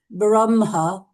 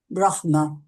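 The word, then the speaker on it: ब्रह्म: you like is is one would you must pronounce it braha um but with others you have to pronounce it brahma okay I think certainly that's more correct that's more correct I think brahma c certainly that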